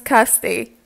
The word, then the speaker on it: Kirsty: this video and yes my name is Kirsty by the way and it's pronounced as such I realized that I